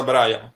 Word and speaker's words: Brian: Sí, como creas que se escribe, así es, Brian, pero se pronuncia Brian.